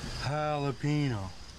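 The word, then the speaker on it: jalapeño: Ricky, the J's silent. You're saying it wrong. The J's like an H, Ricky. Jalapeno, not jalapeno.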